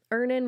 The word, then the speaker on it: Earnin: Earnin removes that feeling.